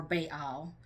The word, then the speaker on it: Baal: will you call me my Baal or Baal some people pronounce it differently I say ba so this is his